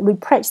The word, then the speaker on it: replace: 第二个 replace，重音在第二个音节 replace 取代。